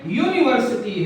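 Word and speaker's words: university: इसकी शुरुआत भले ही यू से है, इसका प्रोनाउंसिएशन एक्चुअल में यूनिवर्सिटी है।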